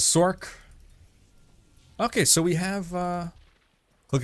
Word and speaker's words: Sorc: this, people were like, why do you pronounce it Sork? It's not Sorcerer, it's Sorcerer. I felt like most people were leaning towards pronouncing it Source. I think for me it's just more comfortable to pronounce it Sork. Like, I don't know. Source, it's not quite 2 syllables, but it's like 1.5, you know?